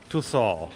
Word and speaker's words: Tussauds: Yeah, it's French. It's weird. It's Tussauds.